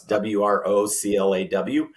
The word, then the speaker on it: Wrocław: It's spelled, though, Wrocław phonetically, and so it's Wroclaw.